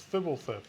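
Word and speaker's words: Fblthp: you pronounce this card it's not like a fart noise it's fibble F people love that there's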